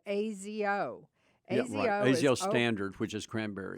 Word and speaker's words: Azo: a inexpensive it's really azo it's pronounced azo but my wife calls it azio because it sounds special a-z-o it's a azo